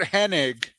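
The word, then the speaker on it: Hennig: Sharp versus Mr Perfect Kurt henig which everyone pronounces Kurt Henning for for for some reason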